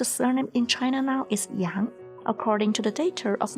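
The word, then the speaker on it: 杨: And character Yang follows the second tone, so it is pronounced as E, Ang, Yang. If you would like to, you can follow me. Yi, Ang, Yang. Yi, Ang, Yang.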